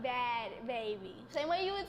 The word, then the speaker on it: Bhad Bhabie: You kind of hear the H in there, right? No, you don't. Bad baby.